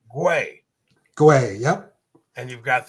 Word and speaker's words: Guay: And I had to ask him, how do you say your last name? And he said, put a W in there and you'll figure it out. Guay.